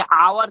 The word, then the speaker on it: hour: हिंदी के ना सर, जैसे आवर सर, HOUR आवर, एच से प्रयोग होता है तो हाँ सर, आवर, वेरी गुड।